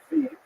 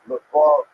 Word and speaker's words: Lviv: written in this map as Lviv, that's the Ukrainian pronunciation. This is a map of Ukraine. It was a U in the local dialect. It was known as Lvov to Poles and Lemberg as Germans.